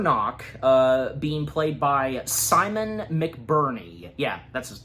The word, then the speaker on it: McBurney: Knock, being played by Simon McBurney. Yeah, that's his name. That is how his last name's pronounced, yeah.